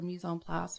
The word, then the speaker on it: mise en place: And you need to have your mise en place, which is like all your top stuff ready to go for your pan. Sorry, how do you pronounce that? Mise en place.